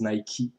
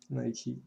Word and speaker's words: Nike: It is actually the pronunciation is Nike. Nike.